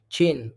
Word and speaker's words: Qin: Chin, pronounced Chin.